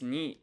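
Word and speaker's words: 二: So this ni here, what I find kind of interesting is the kanji for 2, which is pronounced ni, is written just like this.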